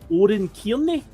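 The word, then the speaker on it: Oran Kearney: Oren Cairney, I believe it's pronounced.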